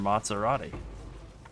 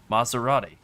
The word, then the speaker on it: Maserati: when you could just drive there in your Maserati?" That's right. I pronounced it wrong. Maserati.